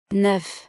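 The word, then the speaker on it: neuf: Before a consonant, F is pronounced. Example. 9 citrons. 9 citrons. When counting or alone. 9.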